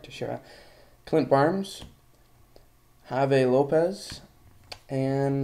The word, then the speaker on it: Teixeira: Upside down, you have Mark Teixeira, like I like to pronounce his name, but it's Mark Teixeira.